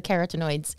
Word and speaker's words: carotenoids: then of course the keratinoids did I say that right yeah that's what I think outstanding so it's not spelled like carrot that you eat but the carotenoids are responsible for the orange color of carrots as well as the orange